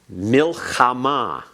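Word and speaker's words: מלחמה: Milchamah. Ah, I heard the guttural that time.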